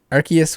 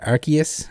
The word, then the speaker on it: Arceus: a little off mars arceus with a soft sea not arceus i will die on